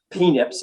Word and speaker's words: PENIPs: that's your psychoneuroimmunological perturbation penips i call them to rhyme with snips right peanut snips and phenotypes is really